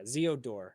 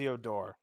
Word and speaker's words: Zeodor: And It's I mean Zeo, yeah, Zeodor is the way you pronounce it. Zeodor.